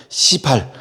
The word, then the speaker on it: 시발: 발음 잘해야 돼. 시발이 아니라 시발, 시작이 되었다.